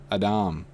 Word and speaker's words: Adam: the same as Edom it's pronounced Adam very similar to Edom they're the same spelling